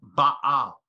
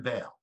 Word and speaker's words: Baal: and so you know in Hebrew you say it you say his name Baal Baal and we call him Bale but it means the